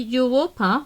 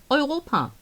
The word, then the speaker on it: Europa: Europa would not be Europa, but Europa.